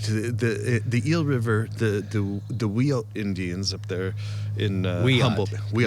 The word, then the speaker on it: Wiyot: The Eel River, the Wiyot Indians up there in Humboldt.